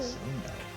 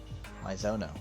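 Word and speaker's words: Maizono: Mizuno. I've always said Mizuno. I've been saying it wrong all these years.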